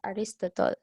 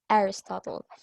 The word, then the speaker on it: Aristotle: So it's not Aristotle, okay? So the stress on his name is on the first syllable, so it's Aristotle, okay?